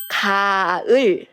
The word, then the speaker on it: 가을: Her name is 가을. 가을. Can you hear a good sound? 가을. Right. The first syllable, it has good sound. 가을. 가, it is 그 plus 아. 그 plus 아, it became 가.